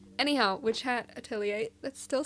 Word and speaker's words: atelier: Atelier. We're not pronouncing it the French way. We're going with the American way. Atelier. Anyhow, witch hat. Attilier.